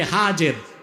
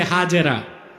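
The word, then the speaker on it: هاجر: এবার তুমি তোমার স্ত্রী হাজের যাকে আমরা বলি হাজেরা হাদিস শরীফে তার নাম এসেছে হাজ কি নামের আমরা বলি সমস্যা নাই শুদ্ধ উচ্চারণটা কি হাজের হযরত হাজের আর তার ছেলে হযরত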